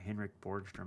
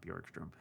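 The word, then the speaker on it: Henrik Borgström: Sorry, Henrik Borgstrom, not Bjorkstrom.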